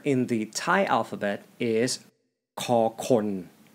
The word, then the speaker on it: ฅ คน: Kho is the first part, which is the sound it makes as an initial consonant or starting sound. Kho has the first tone. It has the same pronunciation and tone with kho khoai. It is equivalent to the English K, K sound.